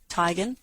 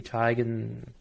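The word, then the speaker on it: Teigen: that's literally just chrissy tygan um tegan tygan is it type it's tigen yes it was a big thing where she corrected it one day because nobody pronounced it right but it's tigen right well they're knowing we've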